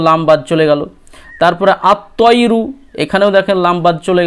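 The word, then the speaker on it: الطَّيْرُ: তারপরে আত্তয়রু, এখানেও দেখেন লাম বাদ চলে গেল।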